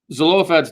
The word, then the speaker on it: Zelophehad: Zelophehad's daughters, or it's pronounced Zelophehad, if I remember right. His daughters. It was the sons were the only ones who could inherit, and There's a chet in his name. Chet Yeah. with phlegm.